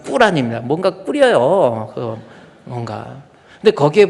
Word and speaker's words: 꾸란: 우리 말로는 코란이라고 그러는데 이슬람식 발음은 꾸란입니다.